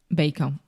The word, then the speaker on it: bacon: Bacon. Yeah. A lot of Brazilians have difficulty with the last sound here.